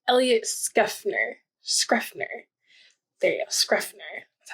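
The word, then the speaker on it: Schrefer: There you go, Scuffner.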